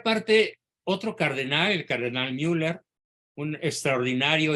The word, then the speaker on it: Müller: otro cardenal el cardenal Müller un extraordinario y muy admirado por su servidor cardenal alemán cardenal Gerard Müller se escribe mwl e r con diéresis en la u por eso se pronuncia Müller dice que Benedicto 16